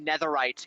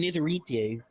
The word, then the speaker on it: netherite: They mispronounced netherite in Minecraft.